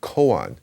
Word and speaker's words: koan: is pronounced kungan and in japanese it's pronounced koan so especially western viewers